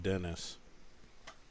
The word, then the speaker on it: Denis: before I understood that that's how his name is pronounced Dennis but it's European so there's no two ends so it wouldn't be pronounced that way in my opinion but I mean he's not French he's from Estonia let's see I would think